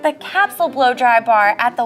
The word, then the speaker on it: Kapsule: Kapsule is actually Dutch. It's pronounced Kapsule.